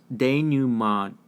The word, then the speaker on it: denouement: This is pronounced denouement. French in origin, which means the final